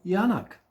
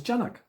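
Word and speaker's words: Janák: call it yacht right so my surname is actually yanak yanak but because i noticed that most people think ya yanak is spelled with a y so um in order to confuse them not finding me or put my my file in into the wrong section i say my my name is janak which it isn't right and i've been using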